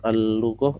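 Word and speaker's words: اللغة: Al-lughatul arabiyyatu sahlatun, al-lughah ini huruf lam, lamnya huruf syamsiah, berarti bacanya ada tasydidnya, ya.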